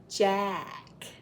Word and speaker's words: Jack: Jack. It's the ugly A.